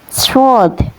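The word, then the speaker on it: ص: Bedakan dengan huruf ini namanya huruf shod ya. Cara melafalkannya seperti bersiul ya teman-teman.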